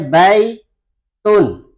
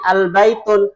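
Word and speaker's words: البيت: Ketika tanpa tanwin, membacanya baitun. Dengan apa? Tanwin. Tapi ketika kemasukan alif lam, membacanya bukan lagi al-baitun, tapi baitu.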